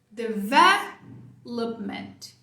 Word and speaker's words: development: Toda a sua força vai ficar aqui na tônica. Depois você vai só encolher. Development. Mesmo som aqui, ó. Ment. Tá? Então, essa aqui é isso. 2 pontos de atenção. Sílaba tônica vé. E aqui não precisa fazer um pment. Não precisa dessa força.